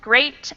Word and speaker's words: great: Watch out for meat and great and threat. They rhyme with suit, straight, and debt.